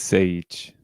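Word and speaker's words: Šejić: His last name, though, how do you think it's pronounced? Do you know? I think it's Sage. You are correct. Yeah, you are correct. It's Sage.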